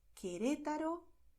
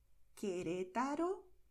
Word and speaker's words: Querétaro: But in these combinations here, QUE, QUI, the letter U is silent. Okay, so you write it, but you do not pronounce it. This is why you're going to say Caracas, Colombia, Cuba, Querétaro, Quito.